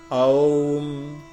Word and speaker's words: ओम: है मां का गर्भ याद रखिएगा अ उ म से बना है अ उ म ओम ओम शुद्ध उच्चारण य होता है ओम का अर्थ होता